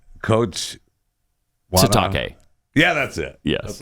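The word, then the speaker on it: Sitake: I want to say his name wrong. Say it right. Bad. What's his name? Coach Satake. Yeah, that's it. Yes. That's what it is. Kalani Satake.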